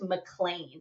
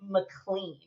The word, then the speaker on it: McLean: it's a really common popular last name it's pronounced mlan so think of it like m c n